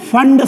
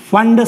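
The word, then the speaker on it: Pfund: Fund series. Fund series. Okay? Because P will be silent. Just like psychology, P is present, but we are not pronouncing it.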